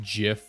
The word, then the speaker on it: GIF: you know how like GIF is actually pronounced Jif you know if you're